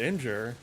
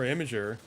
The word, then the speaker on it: Imgur: I call it Imgur, like, or Imager. Don't know why, that's just always how I heard it. Imager is also, I think, correct.